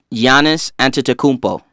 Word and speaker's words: Giannis Antetokounmpo: Hey, can anybody here pronounce his name? No. Giannis Antetokounmpo.